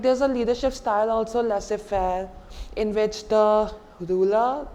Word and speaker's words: laissez-faire: fellow let us find a know it's simply laissez-faire I'm telling you why it comes from a